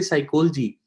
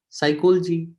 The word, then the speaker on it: psychology: english when we say psychology nep before s is silent psychology so this this word psychosomatic whatever the word though start with psyche so the p is always silent when it comes with s that's why sodius is